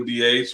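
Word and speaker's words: D'Aych: But the proper pronunciation is, as Cindy said, DH.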